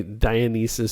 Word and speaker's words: Dionysus: And I'm always confused by Dionysus, pseudo-Dionysus, but that's Dionysius, not Dionysus. Dionysus. He's the Greek god, isn't he? Dionysus is the Greek god. Dionysius. You're missing a syllable there.